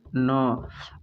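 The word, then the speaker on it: knee: देखो एन के पहले जब भी के आएगा तो के साइलेंट रहेगा, तो यहाँ पे सिर्फ हम के जब साइलेंट रहेगा तो पढ़ेंगे एन को न, और डबल ई है इसमें से पहले का ई पढ़ेंगे, अगला ई साइलेंट हो जाएगा, तो इसको कहेंगे नी।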